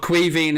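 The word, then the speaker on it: Caoimhín: basically kevin kelleher but cuiving is how it's pronounced in ireland or it's it's the irish version of the name kevin crowd is quiet i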